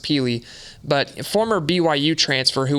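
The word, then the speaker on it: Pili: in my opinion, is Keenan, I think it's Peely. It's pronounced Peely.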